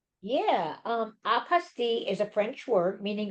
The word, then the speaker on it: apostille: So Judy, you want to tell them biggest question we get is how to pronounce this word? Yeah. Um, apasti is a French word meaning certification.